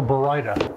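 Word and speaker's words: Baryta: Barita or Barita? Yes, so the correct pronunciation, I'm going to be officially, is Barita. So it's Barita.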